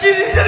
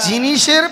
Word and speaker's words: জিন্সের: মাকে কতবার বল একটা জিনিসের প্যান আমাকে জিনিসের প্যান দেয় না জিনিসের প্যান নয়রে জান ওটাকে বলে জিন্সের প্যান হয় উচ্চারণ বসুক লাগাতে সাবধান